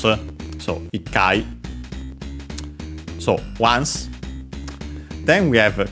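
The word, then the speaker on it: 一回: of course, there's this phonetic change, ichi, also pronounced as itsu, and then the I or U dropped, it, and then of course the T became simply the double consonant because it was easier to pronounce.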